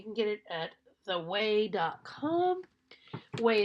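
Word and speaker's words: OUAI: Huey is spelled O-U-A-I.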